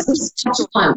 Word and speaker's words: Saskatchewan: I don't know how to pronounce it. Fort Saskatchewan. Saskatchewan.